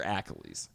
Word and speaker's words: Achilles: Is it pronounced Achilles or Achilles? You know what? I don't fuck. It's fucking Achilles, all right?